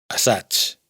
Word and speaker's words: assaig: Y como hemos visto antes, Y se pronuncia como Ch, assaig, ensayo.